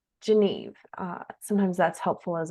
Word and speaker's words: Geneve: I will first say if you're not sure how to say it think of Geneva in Switzerland and then take the a off the end geneve uh sometimes that's helpful